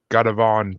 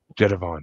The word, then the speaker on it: Gévaudan: But I mean, the whole beast of Gadavon thing in France.